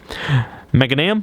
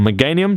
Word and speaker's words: Meganium: Meganium, or Meganium, depending on how you want to pronounce that one.